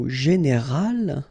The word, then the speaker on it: général: Okay, but then phonetically it's quite interesting, because you don't make any difference. You will get so général at the masculine form, and it will be exactly the same thing at the feminine form, général.